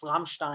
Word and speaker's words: Rammstein: I think the first sponsor, they would get upset if we don't pronounce the name right. It's Rammstein, the fan club of the band Rammstein.